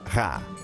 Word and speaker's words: Ra: sabia que em copita o nome do sol em egípcio antigo se pronunciava rá no final havia uma